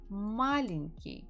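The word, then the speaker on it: маленький: the words after me malinki the stress falls on the first syllable means he is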